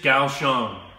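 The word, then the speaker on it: Kaohsiung: the four the first one in English is Gao Xiang the second one in English is pronounced Jie the third one in English is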